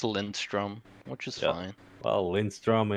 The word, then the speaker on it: Lindström: my last name as it's supposed to be pronounced. How do you say it? Lindström.